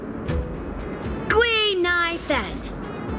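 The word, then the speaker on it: Guinaifen: But a Cienjo friend came up with an authentic Cienjo name based on the pronunciation. Gui-Nai-Fen.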